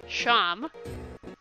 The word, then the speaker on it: Seam: The name's Seam. Pronounced Sham.